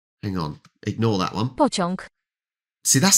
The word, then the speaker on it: pociąg: Pociąg. Pociąg. Pociąg. That's a tricky one, because all is the A with a line. All. But having the G at the end.